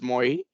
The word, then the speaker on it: MAUI: And that's where they decided that instead of Xamarin Forms, now we will provide a separate framework called as MAUI, pronounced as MOI, which is actually targeting